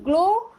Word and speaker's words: glow: In glow, see here, W we are not pronouncing, so W is silent letter. We are pronouncing only G-L-O, glow.